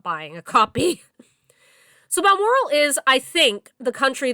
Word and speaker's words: Balmoral: Bearing in mind that I listened to this as an audio book, I could be mispronouncing this, but I think it's Balmoral, like Balmoral Castle in Scotland.